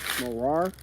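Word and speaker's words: מרר: probably check that word it might be morar in Hebrew right which marar is actually a Hebrew word the proper way to say it morar it means bitter all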